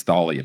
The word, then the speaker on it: Thalia: in the TV show they were like, "It's Thalia."